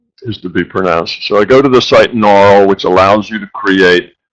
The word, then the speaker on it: Gnaural: You might want to say Gunarl because it starts with a G, but I don't think the G is to be pronounced. So I go to the site Gnarl, which allows you to create binaural beats.